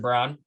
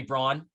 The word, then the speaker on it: Braun: um i got brown uh brown don't call me braun that name makes no sense it's spelled b-r-a-u-n and it's pronounced brown i mean come on